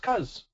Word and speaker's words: because: This, when it's on its own, is the word cause, but when it's the base of because, it's pronounced cuz.